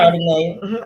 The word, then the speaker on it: Ardenae: Is that how you say her name? Ardenae. Ardenae Garner.